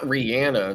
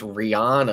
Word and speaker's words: Rihanna: love Rihanna my not that's not Rihanna that's Rihanna Rihanna yes Rihanna we gotta say it right okay here we go